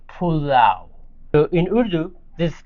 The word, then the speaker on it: pulao: You say pull out. So, you just say pulao.